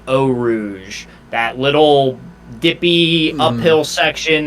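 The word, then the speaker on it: Eau Rouge: want to do i i heard today the the pronunciation of it and i think it's gonna stick in my brain they're pronouncing it oh rouge that little dippy uphill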